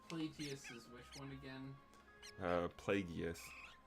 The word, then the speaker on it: Plagueis: Plagueis. It is a hard G sound in his name.